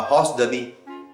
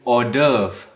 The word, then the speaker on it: hors d'oeuvre: It's kind of a horse derby. Well, it's a French word. It means outside the work. You mean hors d'oeuvre? Yeah? Can never pronounce that word. Hors d'oeuvre. Order.